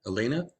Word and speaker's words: Elena: time Loop and Elena Elena is that how I pronouncer name yeah it is here okay and so